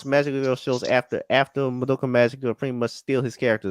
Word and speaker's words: Madoka Magica: just like talking about like um was it doka doka magika if i said it right madoka magica yeah yeah yeah because that the show like